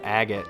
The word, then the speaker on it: Agate: His name is pronounced Agot. I say Agate.